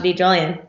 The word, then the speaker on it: DiGiulian: just my full name I'm Sasha D Julian did Julian that's how you say it also nothing no biggie